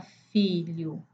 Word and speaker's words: filho: E se formos olhar LH, esse são duas letras e um fonem só na palavra filho.